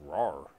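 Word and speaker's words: Rahr: from a HomeTown Brewery RAR and Sons pronounced RAR out of Fort Worth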